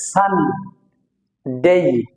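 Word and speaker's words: Sunday: একটা দাগ আছে এ স্ট্রেচ করে বলতে হবে সান ডেই সান ডেই সানডে সান ডেই সান ডেই দেন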